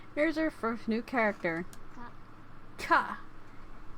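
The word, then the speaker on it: か: Ka. This constant followed by a vowel, it makes up a single syllable. You pronounce it as ka.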